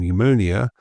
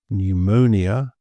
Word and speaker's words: pneumonia: So many Greek origin words like psychology and pneumonia, we have the silent P.